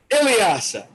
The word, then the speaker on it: Ilyasa: Ladies and gentlemen, debuting on the Kareem Talks podcast, Ilyasa. And not Alasia, how I've been mispronouncing it for the past couple of months up until recently.